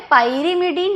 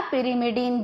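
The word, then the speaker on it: pyrimidine: और एक होता है पाइरिमिडीन या पिरिमिडीन, जो भी आप प्रोनाउंस कर लो सही है।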